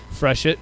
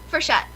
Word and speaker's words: Frechette: Because probably the way I was pronouncing it is probably the way I think most Canadians would pronounce it, the French Canadian kind of way.